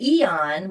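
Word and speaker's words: Aen: I wear the Eon which is spelled AE N because it's an anti-inflammation patch.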